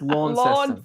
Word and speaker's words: Launceston: So it's Launceston.